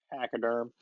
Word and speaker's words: Pachyderm: Southbound Pachyderm. Pachyderm.